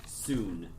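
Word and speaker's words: Sune: Soon, S-U-N-E.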